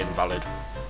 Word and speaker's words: invalid: I'll make the driver of train fucking 33 invalid, or invalid as it's meant to be pronounced.